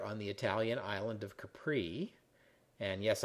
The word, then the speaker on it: Capri: the Italian island of Capri and yes I know Italians pronounce it Capri but hey I'm not Italian anyway it seems krup